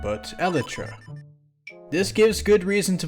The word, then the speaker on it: elytra: proper plural of this is aletra not the lytra but elitra this gives good reason to believe that the in-game item is also pronounced eletra not a lightra like seemingly everyone defaults the pronunciation to anyhow